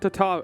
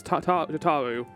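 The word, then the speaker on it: Tataru: that is it's not Tatar it's not tataro it's t taru like tarotaro please to make your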